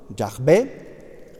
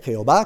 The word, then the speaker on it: Yahvé: Yahvé, Jehová, que diría un testigo que dicen Jehová por una traducción incorrecta, es un error decir Jehová, eso se dice para no pronunciar el nombre de Dios, que es un nombre sacro, ¿de acuerdo?